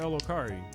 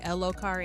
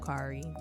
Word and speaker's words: Lokari: Speaking of PocketCon, DJ El Okari. Blurt it out. I've been saying it wrong the whole time. It's DJ Lokari and not Correct. Lokari. Yep.